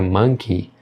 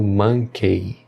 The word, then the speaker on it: monkey: A palavra monkey, o final dela não é pronunciado monkey. O correto é monkey.